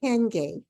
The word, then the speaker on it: Hayunga: guest with me today her name is hengay it doesn't sound like it's looking here um it's pronounced differently than it looks which is the